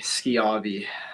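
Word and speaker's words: Schiavi: good I tell people think of a school you know you don't say show you say school it's because SCH so but uh yeah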